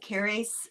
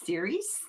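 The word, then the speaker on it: Ceres: either to flora or it's pronounced keris, but in modern lingo it's sir.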